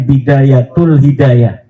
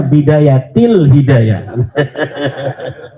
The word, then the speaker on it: bidayatil hidayah: goblok gitu kenapa kenapa Kenapa ada huruf jar B katanya dibacanya bidayatul hidayah. Harusnya bidayatil hidayah.